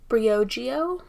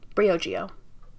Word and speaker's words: Briogeo: Briogeo. So I guess they split it in the middle and it's not like combined. So it's Brio and then Geo. Briogeo.